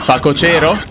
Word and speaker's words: facocero: facocero Ma si dice la pronuncia giusta eh facocero però è pronuncia talmente che suona strano che pochissimi dicono il modo giusto questa parola Allora vai